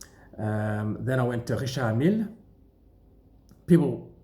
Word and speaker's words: Mille: They don't say the E on the end of Mille. It's Richard Mille, not Richard Mille.